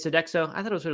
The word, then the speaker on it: Sodexo: sounds kind of familiar Sodexo or sodejo I don't know how to say it so next one it is Sodexo I thought it was